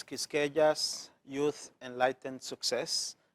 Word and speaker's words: Quisqueya: for the audience, it's Quisqueya's Youth Enlightened Success. I pronounce it as yes, the Q is silent.